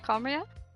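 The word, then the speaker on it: Khaenri'ah: It's been so long since I've done the quest with Danley that I forgot how it's pronounced. That's right, Conria. Conria suffered greatly during that time.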